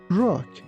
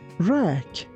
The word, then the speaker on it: rack: You be careful not to say rock. It's rack. Rack.